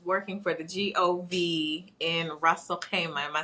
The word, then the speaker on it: Ras Al-Khaimah: I think I was saying like Rasalima.